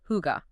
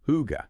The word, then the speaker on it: hygge: And it's pronounced Huga. Huga.